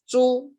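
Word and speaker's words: 猪: Its pronunciation is "zhu."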